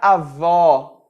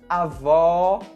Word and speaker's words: avó: Com o acento circunflexo, nós temos um som um pouco mais fechado, como nas palavras ônibus, abdômen ou anônimo. É muito importante você pronunciar corretamente esses sons, porque você pode trocar as palavras avô, masculino, pela palavra avó, feminino. Avô, fechado, avó, aberto.